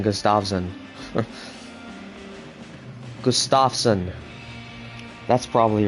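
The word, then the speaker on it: Gustavsson: I've been saying gustavson Gustafson that's probably right right uh emphasis on the Gus instead Gustafson gusts all right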